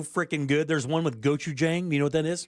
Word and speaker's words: Gochujang: There's one with gochujang.